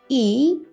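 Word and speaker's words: 이: this Chinese character means plum tree and it's pronounced e in Korean when it comes to Korean given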